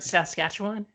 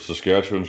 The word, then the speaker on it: Saskatchewan: that right yeah yeah okay and you're in saskatchewan and you said it right so you're the